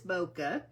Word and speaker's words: bokeh: just in case you're not sure how to pronounce that um it is bokeh and it's this um